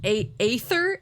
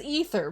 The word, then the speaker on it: Aether: so fast it's pronounced a ather Aether okay I think in my mind I'm like oh the a is silent it's ether but yeah a ather